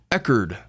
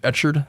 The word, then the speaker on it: Echard: so much for the $1.99 he says it's pronounced eard what have I been saying e hey what